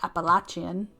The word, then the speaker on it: Appalachian: So the southern Appalachians, as I was told that that's the right way to say it, Appalachian.